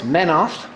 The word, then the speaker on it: Menoth: It's Cygnar, Cawdor, Crix, give you more details here in a minute, Crix, Menoth. Now, if you want to know my pronunciations, it's Menoth, Crix, don't these sound cooler?